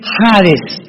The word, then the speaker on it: Hades: Esta versión del griego, del hebreo al griego se tradujo la palabra seol con hades, con h que muchos dicen jades. Se puede pronunciar así porque es en el griego.